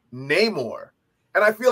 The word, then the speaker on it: Namor: there when he said that still proceeds to pronounce his name Namor and I feel like it's kind of meta